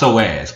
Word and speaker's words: psoas: All right, so you see these psoas, and just saying the word, it's pronounced psoas, but it's spelled Psoas.